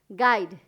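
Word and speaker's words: guide: यू जो कि है साइलेंट लेटर है।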